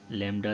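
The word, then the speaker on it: lambda: तो प्रोनाउंसिएशन आप लेमडा से इसकी करेंगे।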